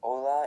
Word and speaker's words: hola: The first hola is hello. Not sure if we'll need a pneummonic device for that. Sounds almost exactly like the English word.